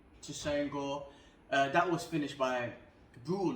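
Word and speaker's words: Tresean Gore: Cody Brandung versus Tyrese Gore. No, I said that name wrong. Tusain Gore.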